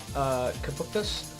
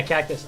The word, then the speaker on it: Cactus: Is it just cactus or is it capuptus? I don't know how to say it. Yeah, cactus. Okay. Okay. Good. Good, good. That's way easier than whatever. Yeah. I get the joke. I'm about to hop in on. I'm messaging somebody. Cactus. That's how you're supposed to pronounce it, guys. It's just cactus.